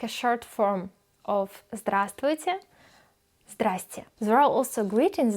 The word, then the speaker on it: Здравствуйте: Здравствуйте means hello. Здравствуйте. Здравствуйте. The letter V is not pronounced. We don't say здравствуйте. We write здравствуйте, but we say здравствуйте.